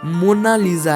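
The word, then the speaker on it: Monna Lisa: कोई इसे मोनालिसा कहता है तो कोई मोनालिसा, लेकिन इटालियन में इसकी करेक्ट प्रोनाउंसिएशन मोनालिसा है।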